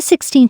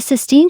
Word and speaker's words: Sistine: if she realized that she had both mispronounced Leonardo da Vinci's name and called the Sistine Chapel The Sixteen Chapel fans like Reddit user